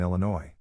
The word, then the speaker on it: Illinois: correctly drove me batty she also pronounced the s in Illinois as a non-native speaker